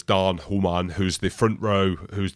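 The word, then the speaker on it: Daan Human: correctly in Africans but it reads as Dan heran but I know it's Dan hman who's the front row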